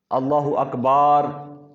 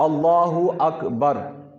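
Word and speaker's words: الله أكبر: معنی بگڑ جاتا ہے۔ اللہ اکبار بار کہیں گے تو آگے الف پیدا ہو جائے گا، معنی اس کا بگڑ جاتا ہے۔ تو اللہ اکبر یہ صحیح لفظ ہے، یہ صحیح تلفظ ہے اس کا۔ اور اس کے علاوہ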